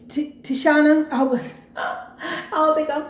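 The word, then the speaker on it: Tichina: Tashina was there.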